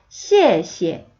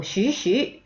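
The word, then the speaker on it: 谢谢: 이렇게 하시는 분들도 계시고 또 쉬쉬 어 이렇게 이상하게 발음하시는 분들 많거든요 자 우리 이제 배운 사람들이니까 고급지에 시에 시에 하고 표현해요 자 그러면 자 고마워요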